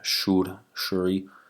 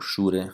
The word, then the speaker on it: Shure: Other typologies of Stanton, Shuri, or Shure, how you say it in Europe.